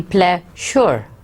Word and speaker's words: pleasure: Now it's written as S-U-R, so it should be pleasure. But when you speak or pronounce it, at that point, S-U would give the sound of ja. So it would be, the word would be pleasure, ja, instead of sure.